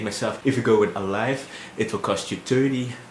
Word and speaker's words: Aliv: the other one is alive even though it's spelled as alif for some reason but it's pronounced as alive how much will a